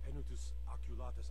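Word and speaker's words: Penitus Oculatus: to Commander marrow right away he's at the pen Otis oculus outpost up in drag and reach okay so that's how you pronounce it you know you'd think for the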